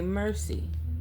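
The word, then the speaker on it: merci: Something about, you know, in French they say mercy, like thank you. Mercy. Yeah, having mercy, but they spell it m e r c i.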